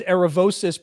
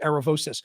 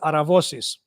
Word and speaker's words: Aravosis: No, the last name's Aravosis because it's Greek, but since I'm American, we say it the American way in English, Aravosis. But in Greek, it's Aravosis, which is similar, obviously,